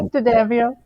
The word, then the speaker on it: D'Addamio: I did D'Addamio. Yes, I did. Did I say it right? There we go. Yeah, D'Addamio.